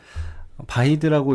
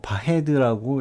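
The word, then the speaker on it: Váḥid: 여기서 나온 바히드라는 용어는 바히드라고 읽으면 안 되고 바헤드라고 읽어야 된다고 웰메사원에서 만든 바디력 관련 자료에 명시를 하고 있었습니다. 그래서 좀 더 조사를 해봤고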